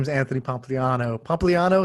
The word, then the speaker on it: Pompliano: Pompiano. Is that the right way to say it? Close enough. Yeah. No, no, no. Say it how you would say it. Pompliana. Pompliana.